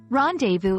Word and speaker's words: rendezvous: Rendezvous is a term borrowed from French, pronounced rendezvous, and it means a meeting at an agreed time and place, typically between two people.